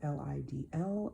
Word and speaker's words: Lidl: I also went to a store called Lidl, Lidl. I am told that's how you pronounce it, but please, feel free to tell me how you pronounce it as well.